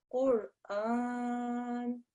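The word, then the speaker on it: قرآن: So make sure you pronounce it as such, okay? Qur'an.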